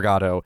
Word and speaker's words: Godot: stressed both I syllables. thought about it. I thought about it too hard. So Godot. There we go. Godot.